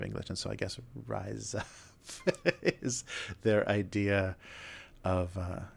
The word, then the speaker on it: RIZAP: club or whatever, that you're supposed to pronounce that rise up, because that's what you're doing.